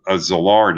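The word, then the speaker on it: Szilard: their own bomb and his fellow hungarian uh zillard it's pronounced he also came to colombia in the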